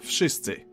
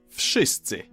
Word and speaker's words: wszyscy: the hell they want, in Polish you simply pronounce each sound one after another and you get the word. W, sz, I, s, c, I. Wszyscy.